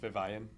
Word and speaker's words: Vivian: at the Robert a Vivian Branch Library pronounced Vivan nuh-uh don't mess with me I'm not wrong there will be a reindeer Craft on December 16th from 4: to 6:00 p.m.